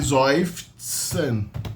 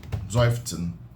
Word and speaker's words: seufzen: Então a gente tem a mania de pronunciar o S como S, não, o S é pronunciado como Z em alemão. E o Z é pronunciado como TS. Então seufzen.